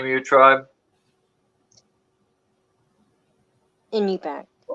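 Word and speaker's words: Iñupiaq: Inupiaq. It's a What? Nana Corporation. How do you say that again? Inupiaq.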